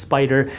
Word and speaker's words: SPDR: So, for example, SPY, this is created by a company called Spider. SPDR is pronounced Spider.